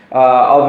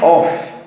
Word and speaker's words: of: Se lembrem que a pronúncia correta desse OF, que significa de, não é off. Off é OFF, significa desligado. A gente fala of, depois a gente vibra a boca.